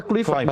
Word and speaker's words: Kluivert: Kluivert apa Kluivert bacanya?